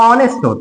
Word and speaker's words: honest: प्रिय विद्यार्थियों, यह 'ईमानदारी' नहीं है; यदि आप सही उच्चारण पढ़ेंगे, तो यह 'honest' है।